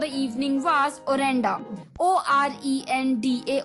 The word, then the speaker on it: orenda: तो दोस्तों 6th वर्ड फॉर the evening was ओरेंडा, ORENDA, ओरेंडा, यानी कि invisible magic power believed by people to प्रिवेड ऑल इन all natural objects as a spiritual energy.